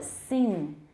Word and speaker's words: sing: However, many younger Americans pronounce sing with a vowel closer to that in seen rather than in sin. 我的 vowel 还蛮高的 sing.